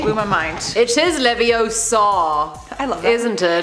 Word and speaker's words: Leviosa: Besides, you're saying it wrong. It's Leviosa, not Leviosa. Wingardium That's pretty good, Leviosa.